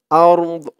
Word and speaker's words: الأرض: দদ ধরেছে উচ্চারণটা হবে আরদ দদের উচ্চারণটা লাস্টে একটু ভাসবে ওয়ামা ফিল আরদ ويعلم